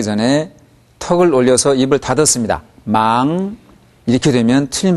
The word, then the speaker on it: 忙: 그렇게 발음해야 됩니다. 그 다음 忙不忙을 다시 들어보십시오. 忙不忙忙不忙.